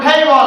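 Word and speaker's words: table: ইংরেজি টেবিলের সঠিক ইংরেজি কে বলতে পারবে টেইল টেইবল কি হবে টেইবল তাহলে টেবিলের সঠিক ইংরেজি কি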